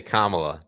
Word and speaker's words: Kamala: you I say Camala Camala Harry I say Kamala is is it come on me come on